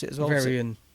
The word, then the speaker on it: Veryan: Which I Is that how you pronounce it as well? Very in. Very in.